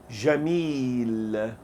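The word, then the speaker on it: جميل: The dash, if you haven't seen the previous class, the dash over the vowel means the sound must be pronounced longer in this place. So repeat. Jamil.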